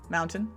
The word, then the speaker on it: mountain: Mountain it wouldn't that I wouldn't pronounce the T like a hard T it would be a soft t I'm about to get